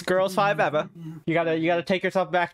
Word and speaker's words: Girls5Eva: which you have to say it like that, just like Totally Killer. It's Girls5Eva. You gotta take yourself back to the early 2000s. The early aughts. Girls5Eva.